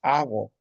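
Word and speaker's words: aqu: A ver, arena es ago. Mira, la la escritura es agu, ¿no? Pero la pronunciación es ago.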